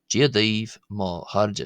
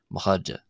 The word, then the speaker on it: chairde: Uh and this R here is not being pronounced as the R in English because it's one of the we'll come to this later in the video but what's known as a slender R.